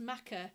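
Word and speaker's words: machair: mother there if she's watching um but it's pronounced maca and it's a kind of low-lying fertile ground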